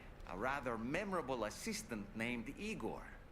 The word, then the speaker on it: Igor: And while he doesn't appear in Shel's original work, in several movies, Frankenstein is joined by a rather memorable assistant named Igor. It's pronounced Igore.